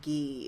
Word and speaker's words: gi: michael's best friends is so i i hear ghee all the time when they're talking about it